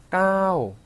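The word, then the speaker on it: เก้า: 까오 하고 길게 발음하자고 했어요.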